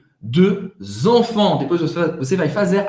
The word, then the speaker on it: deux: Cuidado na pronúncia de dois. Em francês, para fazer esse E, faz a boca do O e fala E. Deux enfants.